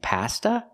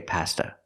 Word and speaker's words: pasta: long e Pizza and pasta we don't say pasta not in America we say pasta use the short a sound like hot and stop pa pasta so the words are